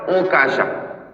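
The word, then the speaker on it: عكاشة: Mana yang lebih fasih, lebih bagus? Okasha atau Okasha? Wat tasdidu afsah. Yang tasdid lebih kuat.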